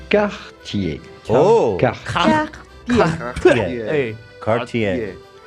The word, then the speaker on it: Cartier: For the typical French pronunciation with the typical French R, say Cartier.